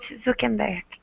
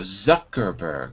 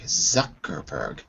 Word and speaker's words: Zuckerberg: a stronger society, wrote Zukenberg. Careful with his name though. Zuckerberg. Zuckerberg. Zuckerberg. That's it.